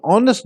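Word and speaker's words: honest: ठीक है, अब यहाँ पे ऑनेस्ट जो है, एच जो है ये लिखने में आएगा, पढ़ने में नहीं आएगा, साइलेंट के तौर पर रहेगा, लेकिन आप इसे पढ़ेंगे ऑनेस्ट।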